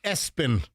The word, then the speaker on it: ESPN: Number three, ESPN pronounced Espen.